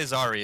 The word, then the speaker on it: Zari: Oh yes, you pronounced my name properly. Good job. Perfect. You can also say Zari. It's a lot easier.